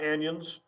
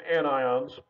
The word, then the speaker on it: anions: negative ions which are called anions again not anyons it's anions and so these are